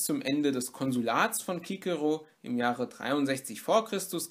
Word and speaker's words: Cicero: zu Kikero verfasst hat, die schreibtweise mit dem griechischen Buchstaben Kappa und das manifestiert auch noch einmal die Aussprache als Kikero. Trotzdem findet man in den Schulen oder auch sonst wo, wenn von diesem Mann die Rede ist, sehr häufig die Aussprache Zizero. Das hat sich sozusagen eingebürgert. Ich werde aber in diesem Video versuchen, es mit Kikero durchzuziehen, genauso wie man ja